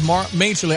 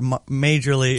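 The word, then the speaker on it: Majerle: Majorly is pronounced Marley. Like Marley.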